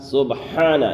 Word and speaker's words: سبحان: سبحان ربی الاعلی، سبحان، یہاں پر ہا کو ظاہر کرنا ہے، سبحان ربی ربی، یہاں